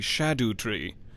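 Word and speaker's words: Scadutree: logic to scadu 3 the C should be like an H is what I heard in Old English pronunciation so it's the shadow Tree Shadow tree fragments which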